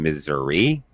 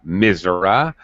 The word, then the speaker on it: Missouri: you go in missouri some of them say they live in missouri some say missouri uh misera they have they pronounce phonetics of this simple three-syllable word mazur maybe they pronounce it with two syllables they stress different syllables different pronunciation the people that live